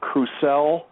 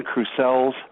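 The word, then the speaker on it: Crucell: Now, the work is being done by a laboratory that's called Crusel, and that's spelled C R U C E L.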